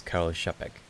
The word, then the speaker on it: Karel Čapek: The C with the X is pronounced as CH. Ah. So, the author's name is Karel Čapek.